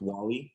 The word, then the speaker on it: Wally: my name wrong uh it's wally like the robot um camille do you